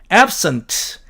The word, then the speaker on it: absent: A번 absent로 철자하는 이 단어는 absent 이렇게 앞에다가 액센트를 주면 형용사로서 결석한이라는 의미가 되고 absent 이렇게 뒤쪽으로 액센트를 주면 동사로서 결석하다라는 의미가 된다는 뜻입니다.